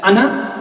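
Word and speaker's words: أنا: is not pronounced this simply read as ana with a short vowel so underneath his eye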